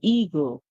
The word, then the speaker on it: eagle: So the E and A in this one says E. The E makes a sound, the A stays silent. We get E. Then we get G, E, G, and the L, E, O. So we get eagle, eagle. Remember, E, A, E. The E makes a sound, A silent. The G makes a sound, G, E, G.